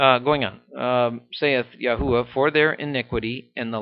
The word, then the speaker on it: Yahweh: and that Nation sayith Yahweh for there yours probably says the Lord is that's his name in there and I think it's pronounced Yahweh I could be wrong but you research it